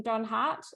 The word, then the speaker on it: Donhardt: recently met the lovely Kathleen Don Hart as am I pronouncing your last name correctly yep yes and totally um inspired